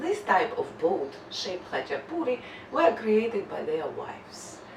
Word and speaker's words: Khachapuri: Adjaruli Khachapuri. Che is again a very hard sound in Georgian language to pronounce for the foreigners, so say with me, Adjaruli, Adjaruli Khachapuri.